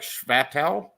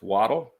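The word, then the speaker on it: Chvatal: t l Jim waddle looks like shatel but nope it's waddle Mike this is good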